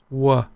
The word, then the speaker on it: qua: Qua, northern pronunciation is qua, very clear. Southern, wa, as in why or where. Wa, qua.